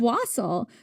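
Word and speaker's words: wassail: I could make some was continues to mispronounce was. It's wasel.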